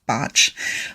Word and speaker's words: Bach: And it looks like Bach, but he was Welsh and it's pronounced Botch.